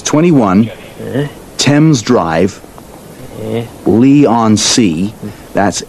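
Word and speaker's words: Leigh-on-Sea: It's 21 Tempame's Drive Lee on C.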